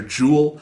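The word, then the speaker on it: Joule: controls you play this character jewel and so spelled like the energy measurement unit yes yes it's fun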